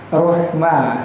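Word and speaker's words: رحمة: Maka yang benar seperti apa? Ruhma ha. Huruf ha kecil itu makhrajnya terletak di pangkal tenggorokan bagian atas.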